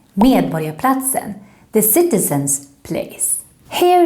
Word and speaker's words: Medborgarplatsen: Remember, in Swedish, when we have the combination RG, then we pronounce it a little bit like the English Y. So it should sound like borg and not borg.